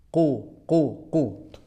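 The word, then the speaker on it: قُلْ: Ini sudah standar makhrajnya. Makhrajnya di mana? Di pangkal lidah. Ya. Diucapkan dengan ku itu sudah di pangkal lidah ya. Qul, lamnya harus ada mengalir sedikit ya. Bukan qul huwallah, tapi qul ya.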